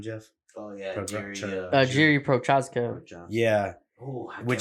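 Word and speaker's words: Jiří: I think his only loss is to fucking Jury, right? How do you say his last name, Jeff? Oh yeah, Jerry, Jiri Prochazka.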